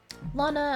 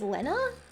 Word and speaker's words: Lana: Lana, as I pronounced. People say it as Lena? What? But there's no E.